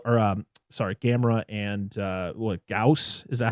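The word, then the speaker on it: Gyaos: to stop Godzilla, or sorry, Gamera and what, Gauss, is that how you say it?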